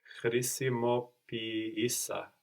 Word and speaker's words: χρησιμοποίησα: Χρησιμοποίησα. And which one are you accenting? Χρησιμοποίησα. Χρησιμοποίησα. So we have the accent third from the end, no?